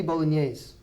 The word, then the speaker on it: bolognese: spaghetti bolognese good now in English we tend to use foreign words when we talk about food okay so we really pronounce it spaghetti bolognaise and that's the French spaghetti and bolognese is Italian okay so we actually combine the two and we make it spaghetti bolognese now in Spanish we